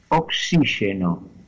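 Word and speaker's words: oxíxeno: letra X en galego, que es la palabra oxígeno, que se escribe las dos veces con Y, con X en castellano, pero la primera suena como KS, oxí, y la segunda como la SH del inglés, oxígeno.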